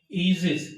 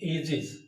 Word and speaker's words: aegis: मैंने बोला ईजिस, AEGIS, इसका सही प्रोनाउंसिएशन है ईजिस। ईजिस माने प्रोटेक्शन, लोग बोलते हैं एजिस।